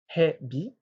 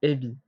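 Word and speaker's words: へび: Alors, on peut voir que ça s'écrit hebi, mais ça se prononce ebi. C'est une petite particularité.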